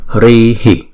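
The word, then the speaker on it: ह्रीः: Chữ này đứng một mình á thì chúng ta đọc là Hrihi, Hrihi.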